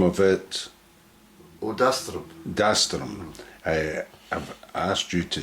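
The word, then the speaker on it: Dastirum: Dastrum. I've asked you to say that because I get the pronunciation wrong.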